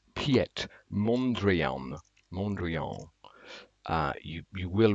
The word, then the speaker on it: Piet Mondrian: to look up a video on how to pronounce it it's Piet Mondrian Montreal uh you you will recognize you this